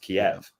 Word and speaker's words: Kiev: why does it matter if in English it's pronounced Kiev uh it's but that but you see with